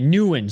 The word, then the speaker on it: Nguyen: Okay, Nguyen.